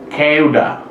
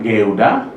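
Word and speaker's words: 끄다: Ini ya, keuda, bukan geuda, tapi keuda, keras ini.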